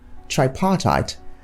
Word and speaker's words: tripartite: Tripartite should not be pronounced as tripartite. You should correctly articulate it as tripartite. So you talk about the tripartite committee, not the tripartite committee.